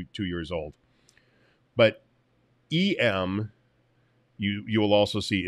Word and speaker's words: em: the heck is an em and that's that's it's actually pronounced m like the letter m because that's where it